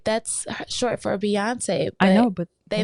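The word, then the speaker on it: Beyoncé: That's short for Beyonce. But I know they not g they going not gonna mispronounce the first part of the pronunciation of her name is not bae. It's it's B.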